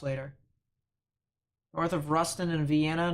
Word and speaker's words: Vienna: that cell near Jasper and Brownell as well Vienna that's what it's pronounced sheesh uh no debris signature on this